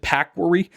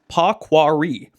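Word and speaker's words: Pahaquarry: Um just a a further uh correction on my pronunciation of I think I said pacquari. It's a paquari which uh it's a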